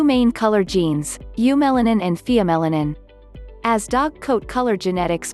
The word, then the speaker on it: pheomelanin: basic black via melanin via melanin pronounced pheo melanin is the gene that